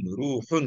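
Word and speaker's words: رُوحٌ: এটা হচ্ছে আরহুন আরহুন এই হা কিন্তু ওই যে ওই গলা থেকে যেটা বলতেছে বড় হয় রুহুন রুহুন এভাবে বলতে হবে আর এটা আরহুন আরহুন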